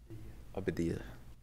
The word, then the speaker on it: Abadia: Abadia. Sorry, Dr. Abadia. I thought you got your last name wrong.